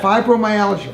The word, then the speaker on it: fibromyalgia: Fibromyalgia. Fibromyalgia.